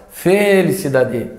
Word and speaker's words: felicidade: tônica aqui olha só cinco vogais qual delas felicidade f cidade não não é o e feliz cidad feliz cidade não é o i também do o i do si felicidade não também felicidade felicidade viram como